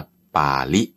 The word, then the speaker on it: ปาฬิ: คัมภีร์ เขา เรียก ว่า ป่าริล ป ปลา สละอา แล้ว ก็ จ จุฬา สระ อี ไม่ ใช่ ล ลิง ด้วย นะ ออก เสียง ไม่ เหมือน กัน ที นี้ ใน รูป